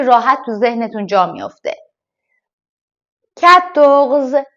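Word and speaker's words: quatorze: تو ذهنتون جا میفته کتغز کدغز مثل کتخ که گفتم کو و او در واقع ک این دو تا حرف کنار هم ک صدای ک داره کو نمیگیم ک صدای ک داره بعدش چی اومده ا اومد اومده دوباره ک ک کتخ کتغز عدد ۱۵ کنز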